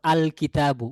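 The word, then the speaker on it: الكتاب: তারপর আল কিতাবু উচ্চারণ কিন্তু দুই রকম হচ্ছে। আর রাজুলু আর রাজুলু আশশামসু আল কামারু। এইযে কখনো লামটা উচ্চারণে আসতেছে কখনো আসছে না।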